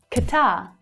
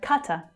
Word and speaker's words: Qatar: Qatar. Or Qatar, depending on which English speaker you hear. Qatar or Qatar. So the stress changes there.